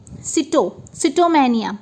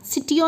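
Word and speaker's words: sitomania: तो सिटोमैनिया, सिटियो नहीं, सिटोमैनिया, देखिए SITO, सिटोमैनिया।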